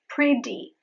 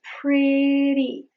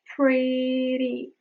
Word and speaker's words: pretty: So when you say pretty, it is not pretty. It's pretty, pretty. You only flap your palate. That is why it is called the flap T.